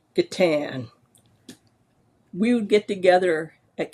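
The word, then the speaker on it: G'tan: And I thought, if you're going from guitar, it's obviously Gatan. We would get together at conventions and G-Tan, J-Tan, Boo-Tan.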